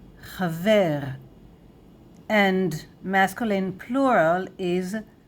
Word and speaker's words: חבר: So friend in Hebrew, singular masculine, chaver, chaver, chaver, chaver. And masculine plural is chaverim, chaverim, chaverim, chaverim, chaver, chaverim.